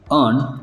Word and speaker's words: earn: अर्न, दोनों words के pronunciation same है। पहला जो वर्ड है अर्न, जिसका स्पेलिंग है EARN, जिसके मीनिंग्स है कमाना, प्राप्त करना।